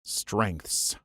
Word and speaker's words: strengths: The hard-to-believe part is that it's one syllable. Strengths.